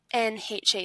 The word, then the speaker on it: coxinha: So there's this thing, and I think it's like a traditional Brazilian snack, and it's spelled Coxinha.